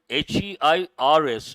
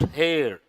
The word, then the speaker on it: heirs: Then there is another word in brackets, underline the word HEIRS. How do you pronounce it? Not hair, H is silent.